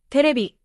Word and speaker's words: テレビ: Katakana words are pronounced evenly, with no strong or weak syllables. For example, camera, terebi, hotel.